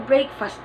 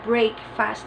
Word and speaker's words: breakfast: Kona Buddha illunga corner breakfast cannibal never break fast always say break break but we do not say break fast but breakfast breakfast what's her breakfast